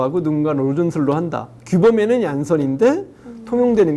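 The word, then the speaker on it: Jansen: 젠슨. 그러면 안 되죠. 왜요? 저 사람은 네덜란드계 사람이에요. 발음이 그럼 다르게. 어떻게 해야 돼요? 얀선이라고 해야 돼요. 얀선. 얀선이라고 해요.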